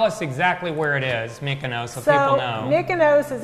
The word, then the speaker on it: Mykonos: Mykonos Yeah.